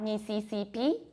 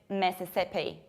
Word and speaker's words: Mississippi: It's not Mississippi, but it's Mississippi, Mississippi.